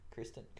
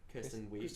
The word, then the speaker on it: Kristen Wiig: Kirsten Wiig? Kirsten Wiig. Kristen Wiig?